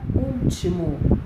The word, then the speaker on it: último: E temos a palavra último, uma palavra de 3 sílabas, cuja sílaba tônica é u.